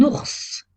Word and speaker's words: ours: ya des exceptions un ours on prononce le s final une lettre mu est